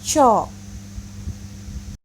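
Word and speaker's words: チョ: Namun, kalau ci-nya besar, yo-nya kecil, maka berubahnya dibacanya menjadi co.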